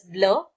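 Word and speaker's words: bleu: Blue is called as blur.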